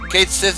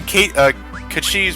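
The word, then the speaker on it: Cait Sith: It's a different pronunciation because Kachi is not English tongue. Like Kate Sith is what we're seeing, but that's probably like an Americanized version of it.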